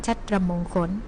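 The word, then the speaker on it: ฉัตรมงคล: 4 พฤษภาคม นะ คะ ซึ่ง ก็ อ่าน ว่า วัน ชัตมงคล นะ คะ มี ความ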